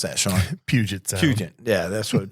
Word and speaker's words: Puget Sound: Just pronounce that, Sean. Puget Sound. Puget. Yeah, that's what Puget Sound.